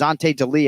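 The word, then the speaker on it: Ante Delija: It was Ante D'Elia. Am I pronouncing that right?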